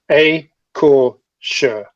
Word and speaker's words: Écorcheurs: please do it for me because I cannot pronounce this, although you told me before. No problem. It's Écorcheurs. Écorcheurs.